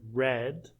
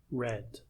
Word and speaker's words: read: Um, instead of the word read, you have the word red. It is pronounced differently like the color red but it is read red.